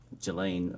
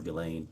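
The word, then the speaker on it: Ghislaine: that in 2024 uh Gelain Maxwell or Gilain I think is how it's pronounced arranged and wired $1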